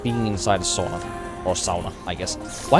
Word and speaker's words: sauna: So you should be pronouncing it the way that we do, right? Say it's sauna. Sauna. Literally like A in English. You can kind of use the English alphabet for it even.